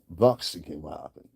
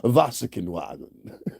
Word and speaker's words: Volkswagen: Voxinwagon. That's how you pronounce this Voxinwagon. Volkswagen. Voxinwagon. I had a German person teach me that.